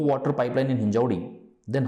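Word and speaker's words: हिंजवडी: देखिए शाहिद हुसैन जी, पहले तो मैं एक चीज़ ये कहूँगा कि ये जो आपने लिखा है हिंजेवाड़ी, ये हिंजेवाड़ी नहीं है, ये हिंजौड़ी है।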